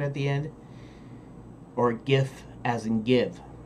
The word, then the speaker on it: GIF: the people pronounce it Jeff and I pronounce the gift and that's because gif hard G because you see what we're doing on time okay so the the the hard G in graphic graphic interchange format gift